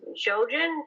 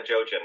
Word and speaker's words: Jojen: Well, another character I disliked outside of Ramsay was, I think it's pronounced Jojen. Oh, yeah, Jojen.